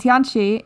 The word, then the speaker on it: Tianchi: Yeah, it's Chunji in Korean and Tianchi in Chinese.